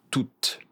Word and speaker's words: toutes: On prononce le E mais pas le S. On prononce toutes. Le T. On finit avec le T.